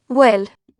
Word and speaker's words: bhfuil: This is pronounced will, right? So the B, if you come across this in school, you're like, what are the BH doing here? It doesn't sound like anything.